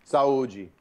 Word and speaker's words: Saúde: Saúde.